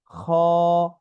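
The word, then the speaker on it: خ: এই হরফটির নাম খ। খ অল্প টান, কণ্ঠনালীর শেষ ভাগ হতে এটা উচ্চারণ হয়, ঠিক আছে।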